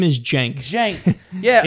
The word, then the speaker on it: Cenk: say that right Shanker jank his name is jank Jake yeah it's pronounced Jake yeah okay so he is he